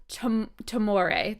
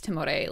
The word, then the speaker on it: Timore: So you just said Timore. That's how it said? Timore. Okay. You can Timore. pronounce it however you want. I don't Okay. mind. Everyone has their own version.